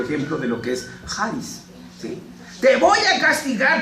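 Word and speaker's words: χάρις: Bueno, la palabra que usa en el Nuevo Testamento es charis, con una como X, pero se pronuncia charis.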